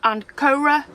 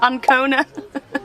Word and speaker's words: Ancona: So the original plan was to go to the north of Italy to a port called Ancora. I've said it wrong. Ancona. I've said Ancora about 4 times.